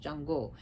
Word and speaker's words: Xango: There's actually a religion called Xango, which is pronounced Chango.